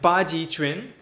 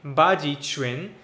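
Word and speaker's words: Baji Quan: Baji Chuan. I know it looks like Quan, but in Chinese transcript you read it Chuan.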